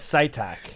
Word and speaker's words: Citak: My Well, my last name is Saitac.